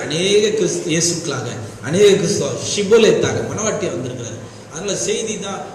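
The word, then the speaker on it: Shibboleth: நித்தியம் வரலன்றாங்க, ஷிபோலேத்.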